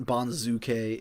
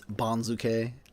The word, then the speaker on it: banzuke: It's still not Banzuke, it's Banzuke.